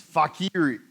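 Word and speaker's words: facere: And then, I gotta be careful about pronouncing this one, but it's fakire.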